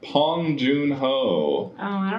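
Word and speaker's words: Bong Joon-ho: listened to it again they kept saying pong they were like pong Jun ho like over pronouncing the P I was like what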